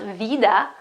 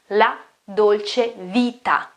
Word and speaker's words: la dolce vita: It's not vida, vida with a D, no, that's Spanish, it's vita, la dolce vita, la dolce vita.